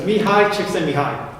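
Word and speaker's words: Mihaly Csikszentmihalyi: Yeah, so it's Mihai Csikszentmihalyi. That's how you pronounce it. So Mihai Csikszentmihalyi identified this mental state of flow.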